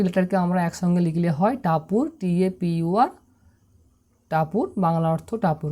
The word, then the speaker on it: Tapur: এখানে দেখতে পাচ্ছ যে টি কিন্তু ট উচ্চারণ করছে, একে আমরা বলবো আ, অর্থাৎ এখানে কিন্তু এর উচ্চারণ হচ্ছে আর মতো, আর পির উচ্চারণ পর মতো, ইউর উচ্চারণ হস্য উকারের মতো।